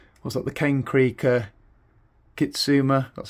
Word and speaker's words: Kitsuma: which is the what's that, the Cane Creek Kitsuma, that's how you pronounce it, Debonair Kitsuma.